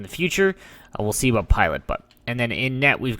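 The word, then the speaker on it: Pilut: This is actually pronounced Lawrence Pilot, with Yoki Harju as our third line.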